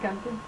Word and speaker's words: Guenther: And your last name, say how I say it, Gunther. and spell that.